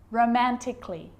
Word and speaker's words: romantically: with the letter A now the letter A can be silent especially in words that end in a ll Y like these romantically musically logically so I'm not pronouncing romantically musically and logically cut the a out get rid of it romantically musically logically now